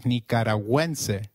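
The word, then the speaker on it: nicaragüense: may have noticed is the symbol on you in nekarawense when followed by another vowel like in is pronounced like in gwen so let's try saying nicaraguan again it is nicaraguense very good going back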